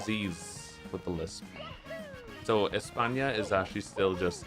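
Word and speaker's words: España: Espa, even though it's not pronounced Espa because we don't pronounce the S with a lisp. It's a very common misconception. Um, actually, we only pronounce the C's and Z's with the lisp. So, Espa is actually still just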